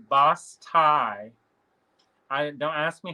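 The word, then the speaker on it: basse-taille: It doesn't look anything like how it's spelled. It would be BAS, but I don't know the tie part. I've never seen it before. It's TAILLE. Oh, TAILLE. Bataille.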